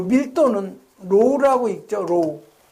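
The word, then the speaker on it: ρ: 여러분이 요거 읽을 때는 요거는 점도는 뮤라고 읽는다고 그랬어요. 요 밀도는 로우라고 읽죠.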